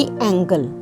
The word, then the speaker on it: angle: है, जिस तरह कि एंगल। बट जे जी तो बाद कोई वाउल लैटर है तो ज साउंड, जिवें कि एंजल।